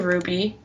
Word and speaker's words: RWBY: But it's pronounced RWBY? Yes, correct. Because The main character's name is Ruby, but also their team name is Ruby, like RWBY, because it's Ruby, Weiss, Blake, and Yang.